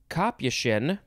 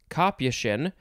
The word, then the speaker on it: capuchin: but the etymology no the uh pronunciation guide is saying i have to read and speak at the same time especially for three also okay um so it is it can be copy shin copychin uh could also be kapushian